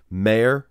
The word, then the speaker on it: Mayr: For the men's classic physique division, your winner was Fabian Mayr, I believe his name is pronounced, his last name, and Ramon Dino is how that's his handle on his Instagram.